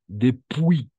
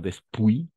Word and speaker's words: depuis: Depuis. Non, después. Non, depuis. Depuis. Hasta la I solo vamos a pronunciar.